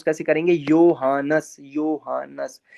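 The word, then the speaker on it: Johannes: अब यहाँ पे लिखा है जोहानस, लेकिन इसको जर्मन में प्रोनाउंस कैसे करेंगे? योहानस, योहानस।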